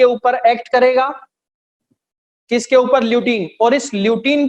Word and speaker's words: lutein: अब इस corpus ल्यूटियम के अंदर जो फॉलिकुलर सेल्स हैं, उनके पास होता है एक पिगमेंट जिसका नाम है ल्यूटीन. क्या नाम है? ल्यूटीन.